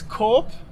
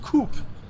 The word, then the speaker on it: Coop: we just passed here it's cop like corporation and not coop like many uh when